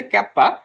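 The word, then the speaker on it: kappa: ঠিক আছে, এটার ইংরেজি প্রোনাউন্সটা হবে এরকম যে ক্যাপা, বা আমাদের বাংলায় ক্যাফা।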